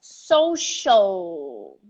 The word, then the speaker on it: social: not our u here it's the english l and the english l is always rolled up like britney is so you repeat with us social social social media social